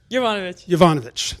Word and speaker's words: Jovanovic: Pronounce that. Jovanovic.